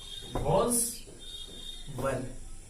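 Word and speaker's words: was: लगाए तो यहाँ पे वॉज लगेगा, और ये क्या लगेगा? वर। इसको बहुत लोग पढ़ते हैं वाज, और उसको पढ़ते हैं where, not वाज where. वॉज वर, वॉज वर, वॉज वर।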